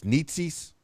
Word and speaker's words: Νέζης: nietzsis and now your your preferred pronunciation of your last name I know we went through it before it's nietzsis basically it's it's okay if you say necessary but I want it to be like neh not me look now